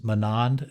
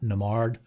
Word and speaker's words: Manand: from 2024 and yes it is manand and not namard for whatever reason the